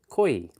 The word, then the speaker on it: Koye: Koi. I don't know what is koi. I have no idea where she got that from. It's spelled Koye. Koi.